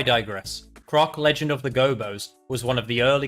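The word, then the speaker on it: Gobbos: Raised by furry creatures called gobos. Some people pronounce them gobos, and if you're from Australia, maybe you pronounced it gobbies, but that's a whole different story.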